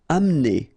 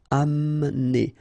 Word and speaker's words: amener: Amener. Don't insist on the E here because you don't really pronounce it. Amener. Amener.